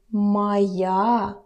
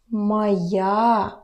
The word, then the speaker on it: моя: My book would be моя книга. Моя книга. Pay attention to your pronunciation. Don't forget about the vowel reduction. Not моя. Моя. Моя.